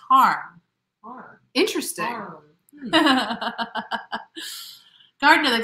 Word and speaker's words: Hiram: Greg says, Hiram around here is pronounced harm.